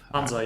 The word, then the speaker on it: Hansa: Hansa. Yeah, like that's probably the closest. Because in English it's actually Hansa with an A in the end, but it's in German it's Hanse with an E in the end.